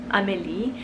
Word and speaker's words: Amélie: I knew a little girl named Emily when I lived in France for a little bit, and pronounced in French, it's beautiful. It's Amélie, and I feel like it could go either way.